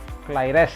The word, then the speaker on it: claires: Yang feminan plurielnya tambahkan S, claires ya, tapi bacanya clair juga.